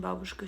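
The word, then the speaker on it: бабушка: That's how you say it in Russian, babushka.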